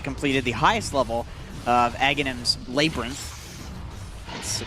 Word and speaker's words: Aghanim's: That means that they completed the highest level of Aghanim's Labyrinth. That's the pronunciation according to Slacks.